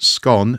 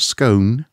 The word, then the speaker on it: scone: completes 10-year National Trust scone not scone scone that's how you say it and I'm not saying that because it's a north-south thing apparently I've had it I've had it triple checked um everyone knows it's a scon exactly it's gone it has